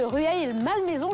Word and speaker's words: Rueil-Malmaison: Effectivement, du côté de Rueil-Malmaison, je le dis bien maintenant.